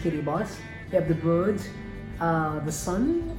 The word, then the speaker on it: Kiribati: it is written a cicada party but is pronounced Katie boss have the birds the Sun and of course